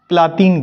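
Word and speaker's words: Πλάτων: प्लेटो को जो है ग्रीक भाषा में प्लातीन कहते हैं, ठीक है।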